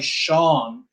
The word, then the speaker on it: Sean: This kind of gives you the clue of why Sean is pronounced like that, because SE tells you it has to be pronounced like a sh.